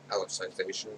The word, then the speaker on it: Alicization: Every Saturday there's new episodes of Sword Art Online for the Alicization, I think is how it's pronounced, arc, which is season 3.